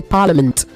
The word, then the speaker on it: parliament: You say parliament, okay? Parliament, not parliament, okay?